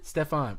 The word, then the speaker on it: Stephon: How do you pronounce it again? Stephon.